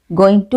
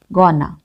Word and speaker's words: going to: In spoken English, going to is often pronounced as gonna.